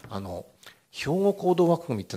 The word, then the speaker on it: 兵庫: 弱点はですね兵庫という地面がですねヨーロッパ人にとってはとても発音しづらいらしいんですね大体ヒゴと言ってみたりですね背後と言ってみたりウゴと言ってみたりですね難ですけど仙台なんか発音